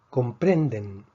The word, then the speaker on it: comprenden: Comprenden, comprenden. Comprenden es una palabra grave. La fuerza está en la penúltima sílaba.